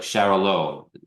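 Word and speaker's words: Xarel·lo: Xarel low, like Charolo.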